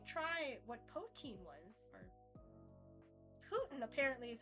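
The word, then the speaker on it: poutine: yeah did finally try what poin was or Putin apparently is how you pronounce it mind blown on that but yeah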